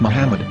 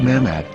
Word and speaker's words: Muhammad: yehuda's hebrew english dictionary it is correctly pronounced as muhammad not mehmed so how we're going